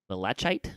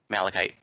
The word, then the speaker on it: Malachite: Also, they added back in the the Mundane Mini Mimic Certificate and the Malachite Mini Mimic Certificate. I think that's how you pronounce that. Malachite.